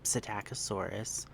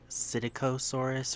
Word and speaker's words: Psittacosaurus: I call them Psittacosaurus with the P. Other people pronounce it Psittacosaurus or something like that without the P.